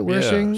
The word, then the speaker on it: Wershing: You've got Anne Wershing. Is that how you pronounce it? Wershing.